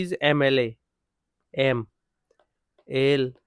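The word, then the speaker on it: MLA: Next হচ্ছে শি ইজ এম এল এ, এম এল এ, এম এল এ, এম ই, এম এল এ, ই এর মতো উচ্চারণ আসে, তাই এন আসবে এখানে।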